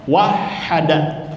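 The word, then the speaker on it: وَحَّدَ: Jadi dibacanya wahda bertasydid.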